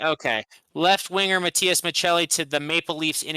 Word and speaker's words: Maccelli: Utah Mammoth trading Matthias, is it Maccelli? Yeah, is it pronounced the Italian way? Okay. Left winger Matthias Maccelli to the Maple Leafs in exchange for a 2027 third round pick.